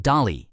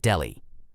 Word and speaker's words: Dali: And just to clarify, it's pronounced Dali and not Delhi.